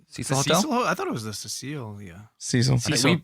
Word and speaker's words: Cecil: I thought it was the Cecilia. Cecil. I think Cecil. we pronounced it Cecile, I think, the first time, but I think it's actually just Cecil.